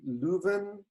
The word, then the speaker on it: Leuven: You are based in Leuven. Is that the correct pronunciation in Belgium?